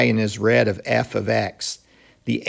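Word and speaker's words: f(x): and notice how i pronounce that i pronounced this part right here as f of x it's not f parentheses x and it's not f times x if you over here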